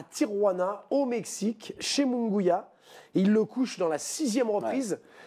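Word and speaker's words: Munguía: battu raime munguya munguya on prononce munguya gros alors c'est de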